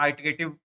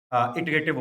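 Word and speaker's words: iterative: आइटरेटिव लोग अक्सर word use करते हैं, लेकिन इटरेटिव होता है एक्चुअल में प्रोनाउंसिएशन।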